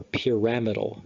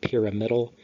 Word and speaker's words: pyramidal: called bet cells or pyramidal cells, spelled like pyramidal or pyramidal cells, so there's the pathway.